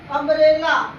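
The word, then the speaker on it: umbrella: अम्ब्रेला, यू के बाद कॉन्सिनेंट है, कॉन्सिनेंट के बाद फिर कॉन्सिनेंट है, डबल कॉन्सिनेंट है, अम्ब्रेला।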